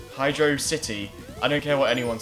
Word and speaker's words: Hydrocity: city music track unlocked it separates the hydro and the city so it's belt out as hydrocity yeah and that's my reasoning like I'm I really drink her the way you pronounce it but that's the right way gosh dang it and it will stay that way yeah if you wanna call it hide rocity more power to you but you're just wrong I'm sir yeah I'm